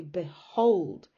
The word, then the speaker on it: behold: don't exaggerate it so if you look at the word behold behold behold the b bit you almost don't even pronounce the be behold you say behold and the emphasis the stress is on hold so if you have